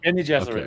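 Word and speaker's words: Bene Gesserit: And Paul's sitting there with his mother Jessica, and they're doing the Bean Gesserit. The boxing? Is that how you say it? Is that how you say it? Bean Gesserit? Benny Gesserit, yes.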